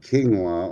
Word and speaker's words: quinoa: See, it's spelled with a Q. But you pronounce it quinoa.